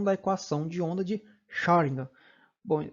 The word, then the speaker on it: Schrödinger: equação de onda de Schrödinger. Bom, o nome dele é um pouco difícil a pronúncia mesmo. Quando a gente pronuncia parece que está falando a palavra Sharingan, né? O Sharingan lá do Sasuke.